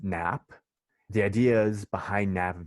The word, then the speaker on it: GNAP: So it's pronounced GNAP.